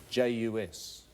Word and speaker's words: jus: well and and and how do you pronounce j us there's no s on the end of it I was going to